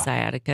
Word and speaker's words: sciatica: Well, I know I know what you you But it's spelled s c i a t i c a. So it's there's a SC. So it's it's sciatica, but it's SC. So is it skyatica?